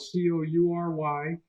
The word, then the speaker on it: Coury: Coury is spelled Coury, or they could go on Amazon and order the book.